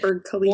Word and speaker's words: Burj Khalifa: or I don't know how to pronounce it. Burj Khalifa.